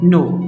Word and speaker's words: know: लफ्ज़ भी यही है, नो, OW, नो। So here you सी कि यहाँ पे भी N की साउंड आई है जबकि K जो है वो साइलेंट है।